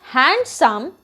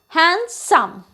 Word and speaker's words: handsome: this word wednesday and the same thing is with the next word handsome it is not handsome it is pronounced as handsome the next word is